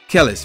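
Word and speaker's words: Kelis: No, it's not Kells, because it's an I. Kellis, featuring Nas.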